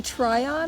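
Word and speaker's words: Tryon: Actually, in Triion, I think they pronounce it. T R Y O N.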